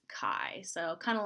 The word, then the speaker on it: chi: see the letter Kai CH I it's not chai It's not Chi it's Kai so kind of like